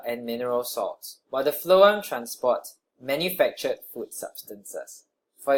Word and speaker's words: phloem: I don't know if you thought about this before, but if xylem carries water but the phloem carries nutrients, and phloem rhymes with flow, and water flows, then why doesn't the phloem carry water?